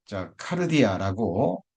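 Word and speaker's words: καρδία: 카르디아라고 발음이 되는데요.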